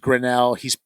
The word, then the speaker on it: Grinnell: Probably, and it's pronounced Grinnell.